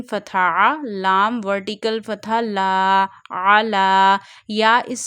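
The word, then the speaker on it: على: Ain fatha, lam vertical fatha, la, ala. Ya is silent here because there is no haraka present on ya. So ya is silent here. Read this vertical fatha on lam only.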